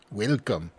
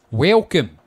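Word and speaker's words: Welkom: was reading that and now I got it welcome in sentence that's spelled w-e-l-k-o-m welcome but he still had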